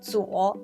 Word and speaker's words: Zuo: place to place actually Zuo is the mandarin pronunciation of name Tso is